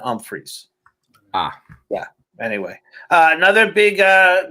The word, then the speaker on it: Humphries: footballers will remind you it's pronounced with an um freeze ah yeah anyway uh